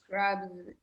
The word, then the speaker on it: crabs: Crabs with the letter Z.